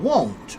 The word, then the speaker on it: won't: What about the difference between want, want, want, and won't? Won't. O, ah. O, ah. Want. Won't. O. Okay?